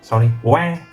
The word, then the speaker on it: は: Ha is wa. I know it's written ha, but pronounced as wa.